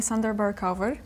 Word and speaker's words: Sander Berkouwer: And today I got with me Sander Berkouwer. Yeah. Nice Dutch pronunciation right there.